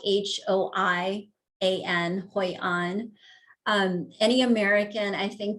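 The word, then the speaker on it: Hoi An: was beautiful but vietnam in this place called hoi on it's spelled h-o-i-a-n hoi on um any american i think that you know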